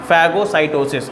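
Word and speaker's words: phagocytosis: फैगोसाइटोसिस, हाँ जी, PHA, मैं आपको स्पेलिंग लिख देता हूँ, फैगोसाइटोसिस, ठीक है, फैगोसाइटोसिस।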